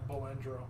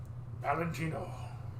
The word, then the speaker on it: Valentino: it always comes back balandro balentino there you go Valentino and sometimes I even hear them say balandro they don't even pronounce the V all the time I've heard them say